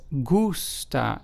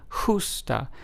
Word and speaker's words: gusta: Whereas gusta, which starts off with a G but then is followed by a U-S-T-A, which means like in Spanish, is pronounced as gusta as opposed to justa.